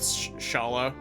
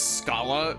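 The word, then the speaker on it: Schala: Go with Shala. I know that I pronounced it as Scala back in Chrono Trigger, much to a lot of people's dismay. Don't want to pronounce her name like school.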